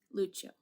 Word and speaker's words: Lucio: Lucio. We both pronounce Lucio the Italian way, by the way.